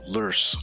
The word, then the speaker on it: Lurs: So it's the Lurs system. Rhymes with worse.